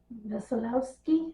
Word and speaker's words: Wesolowski: And the family's name, it looks like Wesolowski, but the W is pronounced with a V sound, which is it's a German thing, but they weren't German. But anyway, it's also a Polish thing to have a W have a V sound. So it's Wesolowski or something like that.